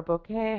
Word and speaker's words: bokeh: is a bokeh and it's boka or bokeh however you'd like to pronounce it apparently both are correct um but BCA essentially